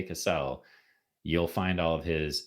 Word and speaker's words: Cassell: Cassell. Yeah. We're hoping that's a pronunciation.